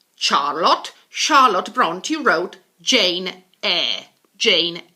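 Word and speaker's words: Brontë: him we have the Bronte sisters the Bronte sisters we do pronounce the e at the end because it's actually of Scandinavian origin so the Bronte sister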